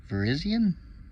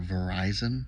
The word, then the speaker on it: Virizion: And Viriz Virizion. Is that how it's pronounced? I know that there's a bunch of people that call her Verizon, which I actually find really funny.